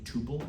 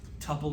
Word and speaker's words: tuple: Tupppel is the correct pronunciation. Rhymes with couple.